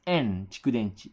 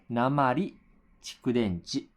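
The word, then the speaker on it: 鉛蓄電池: You don't pronounce this as en chikudenchi. You pronounce this as namari chikudenchi.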